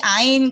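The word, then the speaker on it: ע: 근데 히브리어에서는 이 글자가 알레프하고 이제 같은 발음이 됐어요. 옛날에 오리지널로는 이게 이 목에서 올라오는 소리였거든요.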